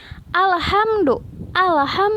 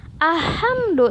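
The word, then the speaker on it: الحمد: Alhamdu bukan ahamdu tapi alhamdu.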